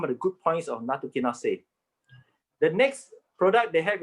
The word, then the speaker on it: nattokinase: I think that one is pronounced as nattokinase. Is it? Nattokinase, you're right, yes.